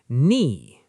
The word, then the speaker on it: knee: The K is silent. Knee.